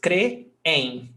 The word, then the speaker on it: creem: Hiato, we've got two syllables, creem, no accent.